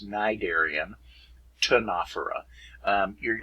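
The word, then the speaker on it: Ctenophora: know ancient greek and these two consonant pairs right here it's the second consonant you pronounce that's why it's cnidarian tanafera um you're like imagine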